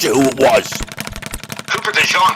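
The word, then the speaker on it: DeJean: Cooper Dejon. That rhymes with Valene, the main character in uh Victor Hugo's Lay Miser Rob.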